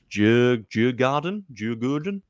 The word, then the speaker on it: Djurgården: So Ghent have got Mulder, Shamrock Rovers, and really sorry, I cannot pronounce the name of this last team. Djurgården.